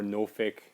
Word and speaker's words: Norfolk: in in America um Norfolk or noric depending on how you want to pronounce it but it's spelled like nor folk um so I am